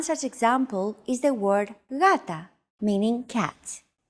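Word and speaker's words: γάτα: One such example is the word gata, meaning cat. This is usually romanized with an initial G letter, but it is not pronounced gata. The first consonant is softer, gata.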